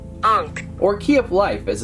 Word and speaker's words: ankh: a creepy face with this one so it's pronounced Unk or key of life as an ancient Egyptian